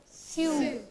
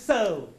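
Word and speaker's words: sew: S-E-W. Sue. No, this is so.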